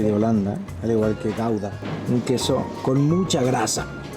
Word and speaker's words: Gouda: El queso Edam, que es así se pronuncia en holandés, y el queso Gouda. Según esa es mi pronunciación holandesa, ¿no?